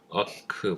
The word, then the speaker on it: AWK: 자, AWK라는 명령인데 미국인들이 이걸 발음하는 걸 보면 오크와 아크의 약간 중간에 발음을 해요. 어크 뭐 이런 식으로 발음을 합니다.